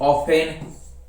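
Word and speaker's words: often: फिर आगे देखो साइलेंट है टी, टी को किस प्रकार साइलेंट किया गया है, जैसे ऑफेन, ब्रिशल, बशल, बचर, ये बुचर बोल दो इसको, काश्ल, Christmas, फाशन, ग्लिशन, हशल, listen, रशल, scratch, सोफेन, watch, we shall और विच।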